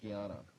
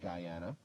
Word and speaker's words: Guyana: I said between Venezuela and French Gana uh there are two countries on the north coast of South America. Who which are they? And it's Gana. Some might pronounce it Guyana and Thurin.